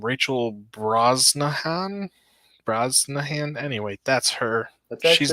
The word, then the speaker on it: Brosnahan: Brosnahan. Anyway, that's her. That's She's actually Mrs. Maisel. pretty good. That's actually how you pronounce her last name, Brosnan.